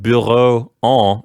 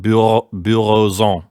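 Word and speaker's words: bureaux en: So instead of bureau-en, you would make a liaison and pronounce the X like a Z, like bureaux-en.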